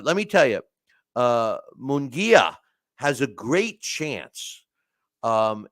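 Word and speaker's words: Munguía: give you my thoughts on that uh Hae mongia did I say it right I've been criticized about how I've been mispronouncing his name and it's mongia I even went to uh uh I went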